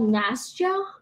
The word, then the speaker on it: Nastya: people this it's well it's called Nastya sty I think that's short for her name Anastasia well as an American who doesn't understand Russian it's spelled nasty eh okay anything else any